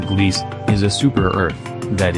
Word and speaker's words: Gliese: sydney shows the planet called gliese 486b pronounced gliese is a super earth